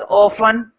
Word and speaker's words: often: लिखो नोट के अंदर first point, the producers ऑफन operate, board पे लिखा हुआ है ऑफन, इसमें टी साइलेंट होता है, ऑफन का मतलब होता है अक्सर।